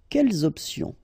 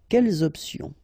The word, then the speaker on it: quelles options: Option is starting with a vowel, you should make the liaison between the two. Quelles options? Quelles options? All right, and then if you, well, heard from the beginning, you know, the concept of this liaison is that you don't make any pause between the two words.